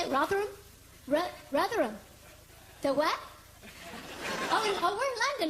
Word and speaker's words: Rotherham: Rotherham.